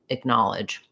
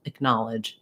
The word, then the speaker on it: acknowledge: vowel is clear and then i just start with a little reduced vowel acknowledge acknowledge you can think of this as just like a little stepping stone then you can see